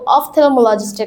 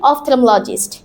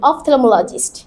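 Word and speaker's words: ophthalmologist: তখন আমরা যাব অফথথেমোলজিস্টের কাছে। কার কাছে? অফথলালজিস্টের কাছে। উচ্চারণটা কি হবে? অফথমলজিস্ট। চলো সবাই একসাথে বলি অফথলমোলজিস্ট।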